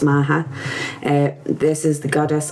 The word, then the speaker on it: Macha: It's uh spelled like Macha, but it's Macha.